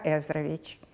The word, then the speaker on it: Ezrovich: Every time he started a new year at the College, he introduced himself: ‘My name is Ilya Ezrovich. Repeat: Ilya Ezrovich, Ez-Ro-Vich!’ - until the students learned to pronounce it clearly.